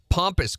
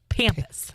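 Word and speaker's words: pampas: around 2:00 uh transplanting pompus grass. Pompus. Pompus, which is not spelled like it's P A M P A S. Pampus. Pampus. Pampus grass.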